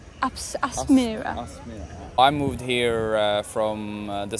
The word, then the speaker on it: Aspmyra: How do you pronounce the stadium name, by the way? Aspmyra. Aspmyra.